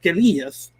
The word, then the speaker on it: guerrilla: So many liberation fighters around the world call themselves guerrillas, but in English, that's pronounced guerrilla.